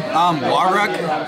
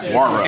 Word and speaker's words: Wawruck: How do you pronounce your last name? Wawruck. Wawruck.